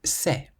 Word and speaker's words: c'est: A C plus an E or an I is pronounced like an S.